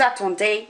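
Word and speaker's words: attendent: Nous attendons, we wait, vous attendez, you wait, and il and elle attend, not pronouncing that ENT at the end, is they wait.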